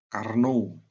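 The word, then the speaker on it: Carnot: itu karnot gitu ya Karno tulisnya karn atau bacanya Karno G ya yang kedua tidaklah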